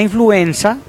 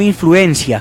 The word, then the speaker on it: influenza: todos tengamos en cuenta la influenza se escribe con z no influencia como a veces escuchamos que se pronuncia la influenza es un